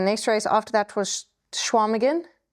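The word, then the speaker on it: Chequamegon: Um and then the next race after that was Schwamagan spelled Shaquamigan. It's pronounced Schwamagan.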